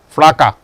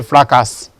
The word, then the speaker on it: fracas: You have fracas, for example, fracas. Many people will say fracas, but it's fracas because this is silent.